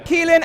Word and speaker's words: Kealan: That's pronounced Kealan and Fiach, he's the main actor.